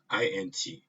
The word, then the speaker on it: int: INT int, I pronounce it as int, means the function returns an integer value.